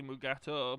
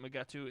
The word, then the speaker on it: Mugato: down an angry mugatu technically mugato but everyone pronounced it magatu in the tos episode a private little wall